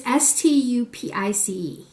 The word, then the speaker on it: Stupice: for me is called I think it's pronounced Stupiczka. It's Stupice. So you would read it as Stupice, but that's not how it's spelled.